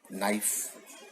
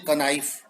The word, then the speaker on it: knife: छुरी, अंग्रेजी में है नाइफ। स्पेलिंग क्या है? KNIFE, यानी बोलने जाए हम, जैसा लिखा है वैसा ही यदि बोलते हैं तो बोलेंगे कनाइफ, लेकिन वहां पे के साइलेंट है।